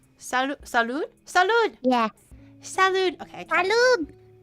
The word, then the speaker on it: salud: you say cheers in um in Spanish uh Salud Sal Salud Salud yeah salude okay salude it's not compai guys salude oh